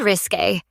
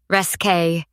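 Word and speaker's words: risqué: "When I said risque, you said it the French way, resque.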